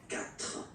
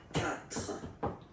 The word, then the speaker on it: quatre: U, A, but then the sound that you will pronounce is K, okay, quatre, quatre, alright, and the Q, U, A, pronounce it quatre, quatre, okay, so remember that even if you get this U vowel here, basically you don't pronounce it, because that's the rule in French.